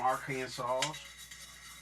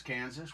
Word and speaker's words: Arkansas: Say it like I'm from Arkansas. And yeah, why do we say Arkansas, but it's Kansas? Why isn't it Arkansas?